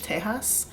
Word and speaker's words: Tejas: I know that's not really how you spell Texas in Spanish. In Spanish, it's still Texas, Texas, but that is how you say it in Spanish, Tejas.